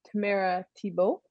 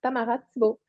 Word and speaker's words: Tamara Thibeault: So in English, it's Tamara Thibeault. And in French, it's Tamara Thibeault. So pick and choose.